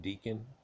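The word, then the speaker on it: decan: deacon comes from but d-e-c-a-n can be pronounced deacon even though we have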